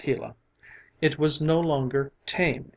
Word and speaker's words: Gila: hot Sun shone down on the Gila monster pronounced Gila it was no longer tame and gentle but